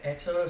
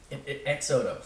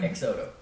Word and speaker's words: XOTO: zoto sure um so so exodo started off as like a sorry I said it wrong exoto so the idea the name is get rid of your car leave your car at home X Auto you know exoto um and and uh